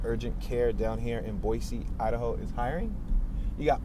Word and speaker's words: Boise: continue moving forward so boise which it looks like it's spelled boyce but if you look up how it's pronounced and i was listening on the radio they say boise we're at six and